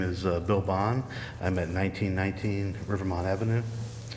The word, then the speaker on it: Bone: i apologize so right i pronounce it bond but most people say it's a different way all right if you